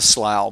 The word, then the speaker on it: Slough: cards like that or Canyon rhymes with plow someone coverage says it slap it Slough right yeah Canyon Slough somebody calls you the slough but it is 100 percent of Slough yeah forsake the worldly